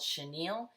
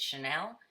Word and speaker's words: chenille: I believe it's actually called chenille, and I've called it Chanel, and that's not what it is.